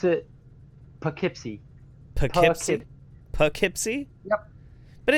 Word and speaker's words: Poughkeepsie: at least at least less white folk we pronounce it Poughkeepsie took it Poughkeepsie yep but it looks like